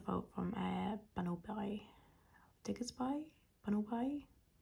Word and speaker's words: Bunnelby: Bunnelby? I always pronounce it as Diggersby and Bunnaby, but now I think I've just done it wrong every time I've said his name.